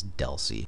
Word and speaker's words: DLCI: data link control identifier dlci which is pronounced dely that's how you're going to hear it 99% of the time is Deli this is going to